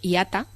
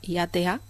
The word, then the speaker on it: IATA: para viajar en avión se escribe en mayúsculas ia o iata como suena iata si si el transporte